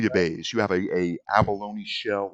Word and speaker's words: bouillabaisse: You got to pronounce it right or it's not going to work. Bouillabaisse. Say it again. Bouillabaisse. You're mechanical and robotic. Say it clearly. Bouillabaisse. That's correct.